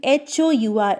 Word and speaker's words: hour: There, even though our spelling H-O-U-R, H is a consonant letter, but there H is remaining silent.